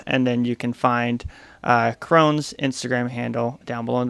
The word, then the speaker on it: Crone: Please welcome all the way from Fright Magic Mountain, Fright Crony. How are you doing today? Woo! I'm well. How are you? Or Crone, right?